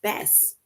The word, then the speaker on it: bass: and salt water fish bass oh bass and rhymes with grass and that is a